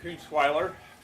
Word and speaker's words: Koontzweiler: my name is koontzweiler and I don't care how you remember my name you can remember that it rhymes with Rottweiler you could remember as